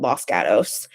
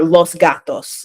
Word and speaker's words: Los Gatos: in the Bay called Los Gatos, or Los Gatos is how you would pronounce it in Spanish, but everybody there calls it Los Gatos.